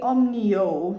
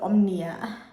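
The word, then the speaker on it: Omio: well yeah sorry guys I meant to say omnio not Omnia so ome so my spelling was correct it was my pronunciation I bought the train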